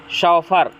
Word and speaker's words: chauffeur: ध्यान रखना फ्रेंड्स, इसकी स्पेलिंग इम्पॉर्टेंट है। शॉफर, CHAUFFEUR, शॉफर।